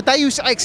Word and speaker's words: Deus Ex: Kyle, you're the community manager for Deus Ex, is that correct? Have I got that right? That is correct, yes. And I pronounced it right, yeah?